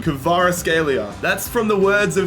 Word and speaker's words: Kvaratskhelia: The Georgian winger, Vicha Kvaratskhelia, is joining us here. Hold up, I need to look up on YouTube how to pronunciate his name. Kvaratskhelia.